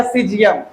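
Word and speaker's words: caesium: इसका मतलब हो गया सीजियम। बोलिए सर से तो ऐसे ही लिख देते हैं क्या? यहाँ पे जो सी है ना, सी ये आपका साइलेंट है।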